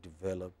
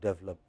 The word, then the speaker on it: develop: I heard all the presentations yesterday, and lots of people have not said develop, they have said develop, which means, you know, you have not made the necessary effort to change the habit of speech.